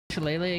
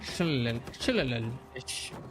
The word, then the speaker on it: shillelagh: Shillelagh again? Shillelagh.